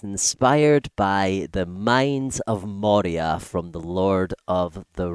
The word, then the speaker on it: Moria: of Moria is that the way they're spelled, Moria, right? And in Scottish, we would pronounce that as Moira, right?